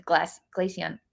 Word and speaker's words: Glaceon: It's Glaceon. How do you pronounce that?